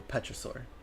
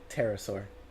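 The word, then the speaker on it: pterosaur: They are described as being chimeraike creatures around 3 m tall with the wings of a Petraur, excuse me, terasaur. Terasaur. Yeah, the P is silent.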